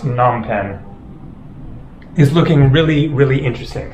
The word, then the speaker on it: Phnom Penh: Oh yeah, nonpen I think it is actually just pronounced nonpen is looking really really interesting.